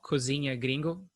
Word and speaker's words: Cozinha Gringo: guys haven't check his channel out it's called Kozeny agreeing go am i right pronounce it right yeah he makes those cooking